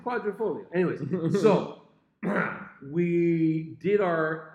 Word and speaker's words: Quadrifoglio: The Alfa Stelvio Quadrifoglio came in like 6th or 7th. They're great. They totally work. Yeah. He pronounces it correctly. What? Quadrifoglio.